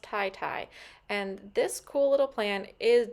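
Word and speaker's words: titi: Okay, so we did look it up, and it is pronounced tie-tie.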